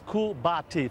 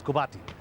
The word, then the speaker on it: Kubati: First, just to correct my name, David, it's Kubati, 3 syllables, Kubati.